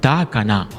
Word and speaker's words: Takana: Takana vienne de ssou on prononce Takana qui veut dire détruit la ville ce surnom ne doit